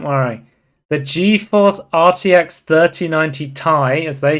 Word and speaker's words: Ti: the geforce rtx 3090 tie as they say because i always say ti but apparently it's pronounced thai announced for some reason the uh the guy over at nvidia he was saying it wrong yeah but i i